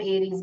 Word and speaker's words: Aries: यस, आई एम एरीज, Babita Gupta ji बता रहे, very good. एरीज spelling देख लीजिए, ARIES है। आपने जो टाइप किया, अराइज करके टाइप किया है।